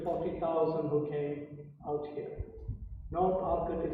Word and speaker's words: Arcot: North Arcot is pronounced North Arcot. Alright? That's how you say it, North Arcot.